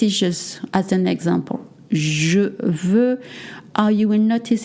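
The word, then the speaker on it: veux: This is just as an example VV. Uh you will notice it's spelled V u X. You don't pronounce the X.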